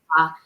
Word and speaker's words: quinoa: look at it and it's spelled, they think it's a quinoa, but it's Yeah. quinoa.